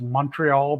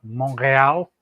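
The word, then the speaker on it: Montréal: why it's not pronounced Montreal, but Montreal. So it turns the E into an A sound.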